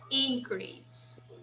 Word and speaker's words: increase: second, and when it's a verb, When no, it's a when it's a noun, it's on the first syllable.